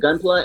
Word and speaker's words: Gunpla: you about your I gotta make sure I'm pronouncing this right. Gunpla, right? It's Gunpla. Yep.